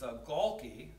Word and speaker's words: Gaulke: Second one here is, last name is hard to pronounce. It's Gaulke.